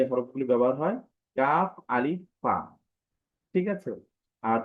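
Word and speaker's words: كاف: সাথে সাথে বলতে পারেন ন আচ্ছা এই হরফটি উচ্চারণের ক্ষেত্রে আরবি এই হরফগুলো আসল ঠিক আছে কফ আলিফা ঠিক আছে তো এই হরফটি আমি আবার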